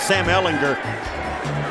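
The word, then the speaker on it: Ehlinger: so nice they i've been saying sam ellinger's name wrong so now i get a chance to correct myself at sam ellinger rookie out of texas twitter's a friendly place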